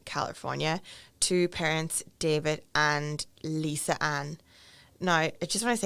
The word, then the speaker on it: Lisa Ann: documentaries that I've watched, it's pronounced Lizanne, I think. So Okay. I'm not sure which one it is, but Okay.